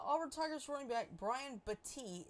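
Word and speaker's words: Battie: going on uh Albert tiger running back Brian bti it's spelled bad but it's actually pronounced bti and his brother Tommy were shot on Saturday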